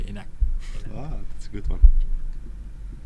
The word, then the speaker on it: enak: Enak? Enak. Enak. That's a K at the end, but I think you don't really pronounce it.